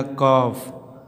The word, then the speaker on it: कॉफ: फिर दिया कॉफ, यफ दिया, यफ का यफ के पहले यल दिया, यल का उच्चारण जो है साइलेंट हो गया है।